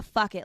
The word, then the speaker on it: Fycket: So tell me a little bit about Fycket List, because it rhymes with bucket list, and I think there's so many of us who have.